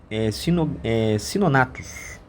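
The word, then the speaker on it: Cynognathus: Outro réptil chamado Sinonatus, né? O G ele é mudo, de mais de 3 metros na costa da América e da África também.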